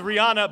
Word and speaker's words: Rihanna: The correct answer is Rihanna, but that's R-I-H-A-N-N-A. No, the H is silent.